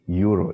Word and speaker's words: Euro: Okay, euro in English. Remember what I said in German, concurrent letters E and U is always pronounced like O, euro, euro.